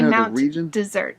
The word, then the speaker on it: Mount Desert: It's technically Mount Desert. Mount Desert, but it's spelled like desert, whatever.